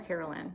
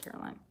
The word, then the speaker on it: Caroline: Is it Caroline or Carolyn? I mean, it's pronounced Caroline.